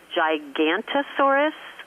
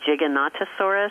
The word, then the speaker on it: Giganotosaurus: all kinds of dinosaurs, including, I like to mispronounce it intentionally, Gigantosaurus. It's actually Giganotosaurus, but when you say Gigantosaurus, you kind of get the picture.